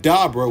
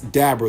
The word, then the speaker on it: Dabura: They mention that Dabra, which is how his name is supposed to be pronounced cuz it's a pun on something that I'm going to get to in a second.